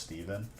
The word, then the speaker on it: Stephen: steven stefan but like it's still pronounced steven and i was just